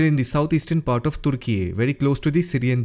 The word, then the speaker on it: Türkiye: Turkey is now pronounced as Türkiye.